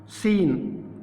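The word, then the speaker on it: scene: इसमें सी को हम साइलेंट कर देंगे। ठीक है, किस तरीके से करेंगे आप देखिए। साइंस, सीन, scam, स्केल, स्कोप, इन सब में देख सकते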